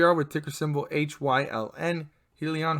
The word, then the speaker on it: Hyliion: with ticker symbol h-y-l-n helion holdings corp or if you wanna pronounce it as hylion holdings corp also known